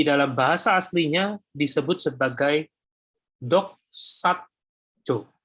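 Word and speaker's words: δοξάζω: Di dalam Roma pasal 8 ayat 30 ini, kata mulia di dalam bahasa aslinya disebut sebagai doxajo. Doxajo. Ya. Jadi pembacanya doxajo.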